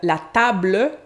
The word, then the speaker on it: table: Notez que Les Québécois, on a tendance à simplifier les consonnes finales qui sont doubles ou triples. Par exemple, la table, le B et le L, on va laisser tomber le L, on va dire la tab.